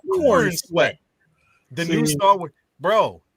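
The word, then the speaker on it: Corenswet: David Cornsworth, the new Corn Sweat or whatever. Corn Sweat. You gotta say it like that. Corn Sweat.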